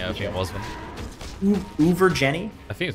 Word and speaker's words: Uvajenie: UVA, then Jenny, basically.